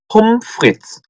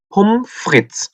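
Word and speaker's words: Pommes frites: 전체를 풀로 읽을 때는 폼프리츠 다시 한번 폼프리츠 이렇게 읽는다고 했고 요거를 독일에서는 흔히 요 앞부분만 그냥 떼서 쓰는 경우가 허다한데 그때는 어떻게 읽는다?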